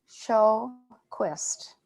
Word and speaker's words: Sjöquist: Sjöquist. No J. Okay. No, Swedish.